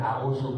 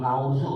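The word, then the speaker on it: أعوذ: Tapi bukan auzu, ngauzu ada yang begitu.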